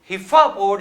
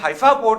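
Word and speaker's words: Haifa: America मैंने फातिमा आपके ही पिछले प्रोग्राम में बताया था कि जब हिफा पोर्ट जिसे हफाप कहा जाता है मुझे उसकी प्रोनाउंसिएशन हिफा ही आती है।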